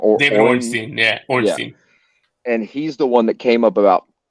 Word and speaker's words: Ornstein: Yeah, Ornstein.